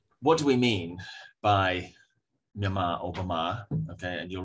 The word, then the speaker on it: Myanmar: So the first is Myanmar, pronounced Myanmar.